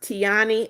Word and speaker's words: Tiana: It's pronounced Tiani.